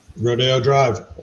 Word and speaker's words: Rodeo Drive: Rodeo Drive. Yeah. Baby. Rodeo.